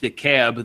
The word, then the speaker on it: DeKalb: Well, Norborn won the Class 1 title, beating DeKalb 4-3. And I just learned that it's pronounced DeKalb.